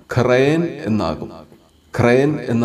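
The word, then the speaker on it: ܩܪܝܢ: ഇവിടെയും നമ്മൾ പറഞ്ഞതനുസരിച്ച് യോധ ഉച്ചരിക്കാതെയാണ് ഈ വാക്ക് വായിക്കുന്നത്. അങ്ങനെ ഇതിന്റെ ഉച്ചാരണം ഖ്രയൻ എന്നാകും.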